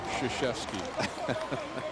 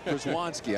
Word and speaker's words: Krzyzewski: The key one, just remember, Krzyzewski. That's the one you got to get. See, right. I was doing well with that. Przewanski, I said it right all night and I stumbled once.